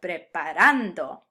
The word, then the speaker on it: preparando: work with preparando and since this word ends in a vowel we're going to pronounce it in default mode with the emphasis on the second to last syllable preparando but what if instead